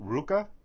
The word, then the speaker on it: RVCA: I think it's pronounced Ruka. It says R. It looks like RVCA.